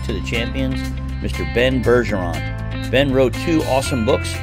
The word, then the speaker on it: Bergeron: And I'm really excited to have on the podcast today is Ben Bergeron. Am I pronouncing that correct, first of all? Yeah, you nailed it.